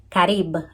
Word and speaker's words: Carib: Carib, as pronunciation in Spanish.